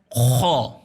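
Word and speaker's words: خاء: خا کا تلفظ پرحجم اور بھاری ہے. خا خا خا اس کو خے نہیں پڑھنا. خے اردو ہے، خے اردو الفابیٹ میں خے کہا جاتا ہے. عربی کے حساب سے یہ خا ہے، اس کا نام خا ہے.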